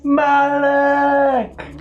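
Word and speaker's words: Malek: I believe it's pronounced Malik!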